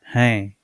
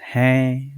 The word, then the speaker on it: हैं: Okay, so guys, you need to be very careful because हैं, मैं. Okay, there is a dot here, there is a anga की मात्रा here, so you have to pronounce हैं.